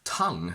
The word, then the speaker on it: tongue: We pronounce tongue with the ng sound because the u, e at the end are silent.